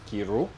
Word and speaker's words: Chiru: So yes, my last name is pronounced Chiru in my language, but you guys are murdering it here, and I'm fine with it. Chiru?